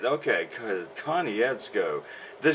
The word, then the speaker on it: Konietzko: There's no way I'm ever gonna try to pronounce his last name. So. Konietzko. Huh? Konietzko.